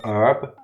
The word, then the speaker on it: herb: we give him the herb. As if we're giving him weed. What? No. Herb. No. H-E-R-B, but the H is silent depending on how you pronounce the word.